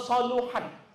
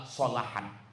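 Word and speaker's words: صلحت: Jadi kalau nanti ada ustadz ustazah ceramah, idza soluhat, salah. Yang benar adalah solahat.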